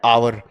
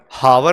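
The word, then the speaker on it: hour: ठीक है, बस इसका मैं बताता हूँ तुम्हें, एच वॉवेल नहीं है बट साइलेंट है, राइट। आवर पढ़ते हो ना, आवर, हावर तो नहीं पढ़ते ना, तो एच साइलेंट है, दैट मीन्स कि जो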